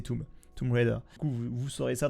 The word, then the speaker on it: Tomb Raider: Déjà, on dit pas Tomb Raider, on dit Tomb Raider, ça se prononce comme ça. Même si tous les Français disent tombe, parce que on dit pierre tombale, la tombe en français, mais c'est Tomb Raider.